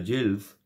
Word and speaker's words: gill: Different pronunciation is given at each head word. For example, same word, G-I-L-L, same spellings, but the pronunciation is different. So here is the pronunciation is Jill. Sorry, in the previous one, the pronunciation is Gill. Okay, that is Gill. And here is Jill.